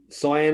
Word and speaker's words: Cyan: Cyan, is it? Or that's a terrible pronunciation. I got that wrong. No, you got it right. It's perfect.